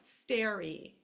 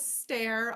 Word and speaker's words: stare: in fluency drills is students sort of forget that the E is silent all of a sudden they'll start saying like stary Okay um so the word is stare obviously if they start doing